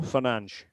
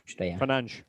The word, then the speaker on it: Fernandes: Bruno Fernandes. Fernandes. So it's like a little soft SH on the end. It's actually quite easy.